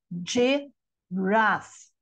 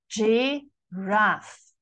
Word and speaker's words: giraffe: Olha, giraffe, giraffe, duas sílabas e não três, né?